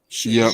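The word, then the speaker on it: Shoyinka: Shalinka?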